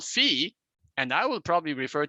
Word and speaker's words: phi: sometimes people calling it fi because that's what. Sab Matsumoto: It is often pronounced in America, you know, like if you have a Phi beta Kappa or something that's not fee beta Kappa right so.